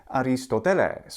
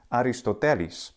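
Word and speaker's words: Ἀριστοτέλης: a student of Plato Aristotle in the classical Greek pronunciation is aristoteles which means something like noble ends but in modern Greek pronunciation it's aristotelis ancient Greek has pitch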